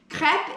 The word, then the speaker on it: crêpe: up like that so crepe is pronounced crep or crap if you